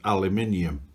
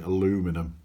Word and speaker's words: aluminium: engine was made of aluminium the americans like to say aluminum because that's how it's spelt and uh our cousins